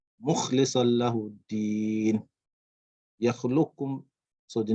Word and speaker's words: مُخْلِصًا: فَعْبُدِ اللَّهَ مُخْلِصًا, not muk, not ka, not kaf but kha. مُخْلِصًا لَهُ الدِّينَ.